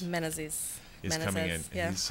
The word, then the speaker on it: Menezes: Menezes. Menezes coming in.